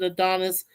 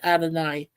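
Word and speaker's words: Adonais: Who mourns for well it some people pronounce it Adonis. Some people pronounce it Adonai. I was just trying to go from the Greek.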